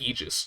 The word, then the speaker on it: Aegis: but i'm pretty sure they were pronouncing it aegis as well so i was very confused but now i know everything like everything that i just looked up has all said it's pronounced aegis so i believe him and that's how i'm